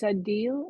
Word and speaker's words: Adeel: But you know, Adeel, it's Adeel.